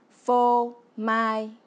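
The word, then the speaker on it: phô mai: se dit en vietnamien faux maille qui se prononce faux maille et vous voyez on retrouve la même sonorité que le mot français fromage répétons encore voix fo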